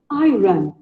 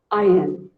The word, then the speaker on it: iron: Most of it call it iron. Well, it is wrong. It is actually pronounced as IN. IN. You can even say it as I earn.